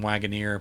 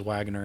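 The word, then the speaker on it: Waggoner: dark by tim wagner i always try to say his name wagoneer but when he pronounces he says wagner and i have to remember that i'm saying it wrong the moment i heard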